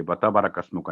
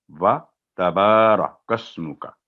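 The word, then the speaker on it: تبارك اسمك: बारह कस्मों का, तो ये बता बारह कस्मों का नहीं है, व तबारा कस्मों का, व तबारा कस्मों का। तो ये भी तलफ़्फ़ुज़ यानी इस तरह से ये होगा, व तबारा कस्मों से नहीं होगा।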